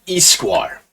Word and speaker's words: histoire: It's actually histoire. H is actually silent.